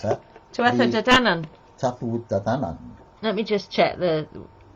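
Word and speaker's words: Tuatha Dé Danann: I can't pronounce that. Tuatha de Danann. Tuatha de Danann.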